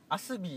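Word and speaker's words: ASBee: 靴屋アスビーって読むんですよね。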